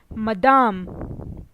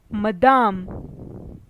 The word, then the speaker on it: Madame: Monsieur Monsieur madam or missus in French is pronounced as Madame Madame miss in French is pronounced as met more